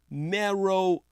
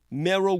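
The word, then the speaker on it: Meroe: invasion Russia's Sudanese gold mining front is called marrow gold that's spelled m-e-r-o-e marrow gold it began operations in 2017.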